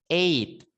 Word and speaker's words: eight: Terus 8 itu eight. E. Nah, jadi GH-nya enggak usah dibaca ya. GH-nya enggak usah dibaca. Nah, tinggal langsung eight gitu ya.